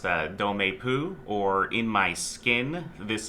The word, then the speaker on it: Dans ma peau: I think it is pronounced Dans Ma Peau, or In My Skin.